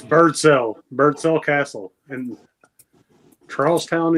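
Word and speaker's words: Birdsell: Bird cell.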